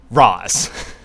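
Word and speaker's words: Ra's: of the word like razal ghoul is supposed to mean head of the demon in Arabic and okay the word Raz is pronounced Ros they're saying it correctly in the movie If you're looking at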